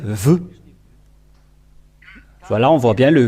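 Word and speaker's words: ו: sa valeur lorsqu'on écrit c'est tout en haut lorsqu'on écrit ça donne ve voilà on voit bien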